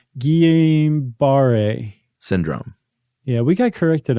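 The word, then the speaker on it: Guillain-Barré: years old and apparently also suffered from uh Gilliam Bear bar Guillain Barre Syndrome yeah we got corrected on that some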